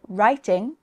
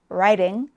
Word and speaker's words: writing: And this sound can come between vowel sounds like in city, city, and writing, writing.